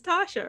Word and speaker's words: Tatia: right the way english everyone in english is pronouncing but my mom decided that she's going to say it's tasha right so right it's it's